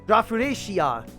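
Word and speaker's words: ラフレシア: So it's Rafflesia shop, if you translate it literally, but it's a pun on the name Rafflesia that is pronounced Rafflesia in Japanese, Rafuresia.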